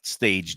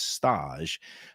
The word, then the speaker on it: stage: It's spelled like Stage Deli, but it's Yeah. not Stage Deli. It's Stage, the fancy foodie way of pronouncing it.